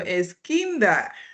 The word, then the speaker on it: Eskinda: Eskinda, I have been practicing this. How to pronounce your name? Yeah, you're all right. You pronounced it right.